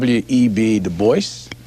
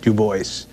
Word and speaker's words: Du Bois: David Ling Lewis web de Boyce yes he always insisted on that pronunciation uh he did not like the GAC